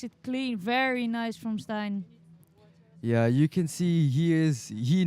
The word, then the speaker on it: Stijn: In Dutch we say Stijn.